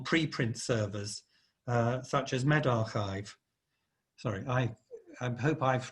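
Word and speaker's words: medRxiv: servers uh such as med archive sorry i i hope i've tried pronounced that correctly that x in the middle is a uh a greek letter chai you can go and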